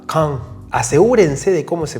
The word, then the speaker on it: Caen: Antes que nada yo voy a decir caen en este vídeo, pero la pronunciación en francés es muy distinta. Es algo parecido a K.